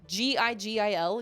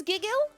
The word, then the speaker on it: gigil: just can't stand it how do you pronounce that g-i-g-i-l giggle g-gill gigil i can't sign off until i know because i don't think it's giggle hard g it is giggle or gidjill giggle well i feel it